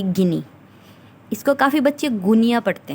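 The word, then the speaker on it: Guinea: गिनी, गिनी बिसो, Equatorial गिनी, ऐसे नाम मिल जाते हैं। तो ये क्या है, इसकी प्रोनाउंसिएशन गुनिया नहीं है, गिनी होगा।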